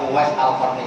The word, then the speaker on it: Uwais al-Qarni: Bacanya Uwais Al-Qarni, jangan salah harokat.